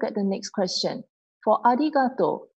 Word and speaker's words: arigatou: So R sounds are more like the L sound instead. Okay, so we pronounce it as arigato, arigato.